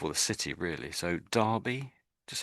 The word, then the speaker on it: Derby: Although it's an e, we sort of pronounce it as if it was an a in my mind anyway. So, we sort of say derby. That's pronounced as derby.